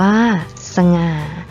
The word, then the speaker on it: สง่า: เป็น ตัว นำ เช่น สง่า อ่าน ว่า สง่า ฉลาด อ่าน ว่า ฉลาด